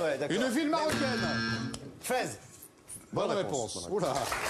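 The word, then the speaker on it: Fès: Fez. Bonne réponse. Oula. Mais on prononce fesse. Fesse. Non, Fez. On dit fesse. On dit Fez.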